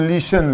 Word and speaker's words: listen: मान लीजिए हम लिसन लिख दिए, लिसन, तो लिसन तो लिखे माने प्रोनाउंस कर रहे हैं माने शुद्ध शुद्ध, लेकिन लिखे क्या है, हम प्रोनाउंस कर रहे हैं लिसन और लिखे क्या है, देखिए पढ़िए, LISTEN क्या होता है, ऐसे पढ़िए।